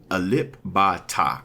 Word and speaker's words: Alip Ba Ta: How you pronounce it? Alip Ba Ta, okay?